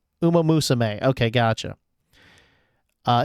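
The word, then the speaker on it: Uma Musume: It's it's it's pronounced Uma Musame. Uma Musame.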